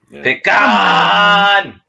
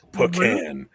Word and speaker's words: pecan: Pecan. My mom's from the South, so she says pecan. Well, we say pecan. So see, PVFS, you say it right.